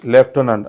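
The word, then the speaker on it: lieutenant: तुमच्या लक्षात येईल की या शब्दांमध्ये कुठेही एफ नाही पण त्याचा उच्चार हा मात्र लेफ्ट होतो कारण हे फ्रेंच वर्ड आहे ओके यस तर याचा करेक्ट उच्चार काय होईल लेफ्टनंट हु इज लेफ्टनंट लेफ्टनंट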